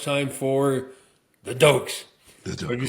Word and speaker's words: Doak: Now it's time for the Dokes. But if you say Doke, you got to say it properly. How do you say Doke? Doke! That's right. Doak. It's like someone just goosed you, just sat on something like that.